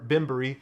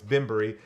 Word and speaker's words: Bemburry: there salahee binberry salehi binbury salehi binbury i keep saying his name wrong it's bimbery uh right there new